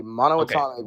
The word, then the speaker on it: monatomic: Monatomic.